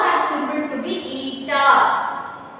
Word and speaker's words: eta: Here we are learning one symbol, it is called as eta. How we have to write? Pronounce it eta.